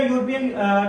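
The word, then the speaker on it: European: तो यूरोपियन तो वाई की या ये की साउंड में जा रहा है।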